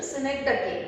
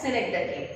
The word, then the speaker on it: synecdoche: The actual pronunciation of this synecdoche. Most of the people pronounce it as synecdoche. बरेचसे लोक याला synecdoche असं म्हणतात, पण त्याचं actual pronunciation synecdoche असं आहे.